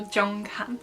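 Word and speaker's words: Jeonghan: his real name so this is the j sound and it's kind of pronounced a bit like a ch then we have the r and then we have the ng which again here is pronounced like an ng because at the end of the syllable and then we have the h the a and the n which is han so jong khan so up next is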